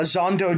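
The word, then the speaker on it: Xhondo: sam doesn't meet uh zando daru uh i believe is how how it's pronounced in the audiobook zondodoru does not meet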